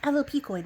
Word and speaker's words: alopecoid: Um, but today we have the word alopcoid, which I had to look up how you pronounce. And yes, the P part is essential. Alocoid, which is a fox-like,